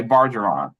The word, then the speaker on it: Bargeron: pronouncing it correctly sir how do you pronounce your name Baron okay bargeron got it so Mr bargeron um